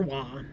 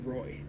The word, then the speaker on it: Roy: And then Derek Roy, or Wah, but usually, I believe, if I remember right, he wanted his name pronounced Roy.